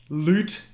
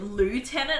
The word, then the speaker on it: lieutenant: loot that was there i thought you said lieutenant and i'm like well that's what that's how you say it like lou like going to the loo lieutenant lute i told you